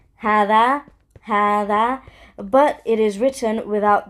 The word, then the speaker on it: هذا: So هذا, I know it's pronounced like ha, dhal, and then alif, like, but it's pronounced like ha, alif, dhal, alif. So هذا, you know what I'm saying? هذا.